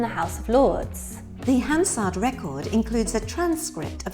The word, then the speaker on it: Hansard: The next question is, what is Hansard? Hansard? Hansard! You have to say it like that. Yes, it's ever so posh, isn't it?